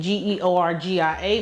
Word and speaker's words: Georgia: That's Georgia, just like the state, Georgia.